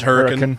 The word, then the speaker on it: Hurricane: Utah who don't know hurricane is hurricane Utah yeah but the local pronunciation is hurt and hurt and if we don't